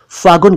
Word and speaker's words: फागुन: फागुन को कुछ लोग फागुन कहते हैं, जो कि बिल्कुल गलत है। इसका सही उच्चारण है फागुन, ये शब्द संस्कृत के फाल्गुनः से बना, फाल्गुनः, ये महीना फरवरी मार्च में पड़ता है।